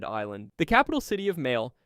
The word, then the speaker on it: Malé: The capital city of Malé, pronounced May-lay, is one of the